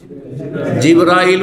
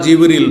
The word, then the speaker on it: জিব্রাইল: যাদের নাম জানি ফেরেশতা ফেরেশতাদের প্রধান জিব্রাইল বা জিব্রল দুইভাবে উচ্চারণ করা যেতে পারে।